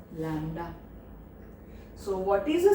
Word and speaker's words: lambda: So it is called wavelength, and it is represented by the Greek word lambda, Lambda. Lambda anbadu B is silent, lambda, children.